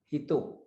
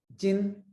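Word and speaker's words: 人: The kunomi, the Japanese reading of this kanji is hito which means person. It has two onomies. the Chinese reading jin and the second reading is name. If this kanji comes after the country's name, it will give the sound jin.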